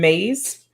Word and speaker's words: Myss: Another great book is The Anatomy of the Spirit by Carolyn Mays. That name is spelled MYSS, so it's a little bit deceiving, The Anatomy of the Spirit, but it talks about how our biology is influenced by our biography.